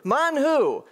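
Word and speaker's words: מן הוא: Or manhu. That's how you say it in Hebrew. Manhu.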